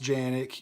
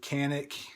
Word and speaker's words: Canik: brand new Janek and it is pronounced Janek you can pronounce it Kanak if you would like it's it's up to